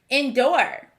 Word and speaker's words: endure: Endure. This is a tricky word. I see the vowel team O-O, which should sound like ooh, but I hear the sound or.